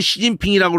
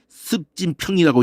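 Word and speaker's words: 習近平: 왜 우리 고유의 그 수도의 이름을 우리는 베이징이라고 하는데 니들이 네 발음식으로 북경이라고 읽고 자빠져 있어. 우리는 시진핑이라고 그러는데 왜 네가 그걸 갖다가 습진평이라고 읽고 자빠져 있어.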